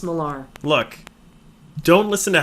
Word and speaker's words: Millar: His name's Miller. No, it's Millar. It's pronounced Millar.